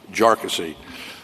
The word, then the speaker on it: Jarkesy: and by the way it's pronounced jassy uh not not a number of other ways that that it's been pronounced by by many um the the bottom